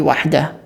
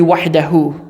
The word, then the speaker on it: وحده: In that case, when I'm saying wahdah, it's really wahdahu, right? But it's a rule when reading standard Arabic that you don't need to pronounce the vowel on the very end of sentences.